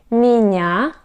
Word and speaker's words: меня: Меня, меня. We have stress on the letter я, меня.